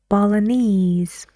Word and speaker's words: Balinese: go and which syllable all the words have the stress on ease Chinese Balinese okay now please rewind